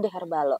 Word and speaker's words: Deherbal0: ini namanya tadi kan the herbal kosong penulisannya tapi dibacanya the herbalo Kenapa sih Kenapa harus